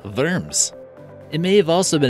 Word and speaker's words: Worms: Germany spelled like worms but it's more properly pronounced firms it may have also been a nickname for